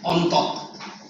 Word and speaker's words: Entente: How do you pronounce? E-N-T-E-N-T. Entente.